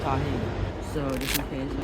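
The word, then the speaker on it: Tajín: I got some pepper, some Tabasco, and some tahin tajin. However you pronounce this stuff, I call it tahin.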